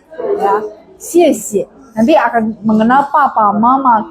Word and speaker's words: 谢谢: Tapi yang kedua itu bacanya nada 5. Jadi teman-teman akan paham bahwa kalau yang diulang itu biasanya yang keduanya baca nada 5. Ya. 谢谢.